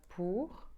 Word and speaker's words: pour: And that's easier because it's always pronounced ou. So, for instance, we have always, which is toujours. We have pour, like c'est pour toi. It means for, c'est pour toi. It is for you.